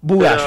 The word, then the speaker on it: Bugallo: ¿Pronuncié bien tu apellido? Lo primero que te pregunto. En realidad es Bugallo, pero Bugallo, no hay problema perfecto, porque perfecto.